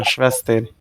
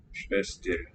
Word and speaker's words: Schwester: Schwester is the spelling. Weak second syllable though. Let's hear it. Sprinze is my Schwester. Schwester. Reduced vowel there.